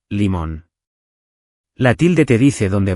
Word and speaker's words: limón: Pronunciar bien cambia todo: melón lleva acento en lón, y limón igual, limón.